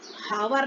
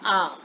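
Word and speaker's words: hour: आ, हावर नहीं बोलते इसको, हम बोलते हैं आ, एच ओ यू आर, H silent है, ऑनेस्टी, इसमें भी एच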